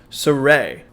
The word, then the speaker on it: Sirui: this array TL 400 and yes it is actually pronounced sarey I was fortunate enough